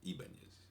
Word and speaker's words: Ibanez: read, by the name of, I hope I'm pronouncing this right, Salvador Ibanez. Salvador Ibanez. That's Ibanez.